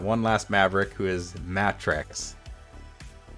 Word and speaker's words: Matrex: Now on that note, we've got one last Maverick who is Matrex. Spelled with 2 T's. Like mattress, except with an X on the end.